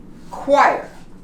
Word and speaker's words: choir: This too here, a combination of a CH, like in choir, you don't pronounce the H.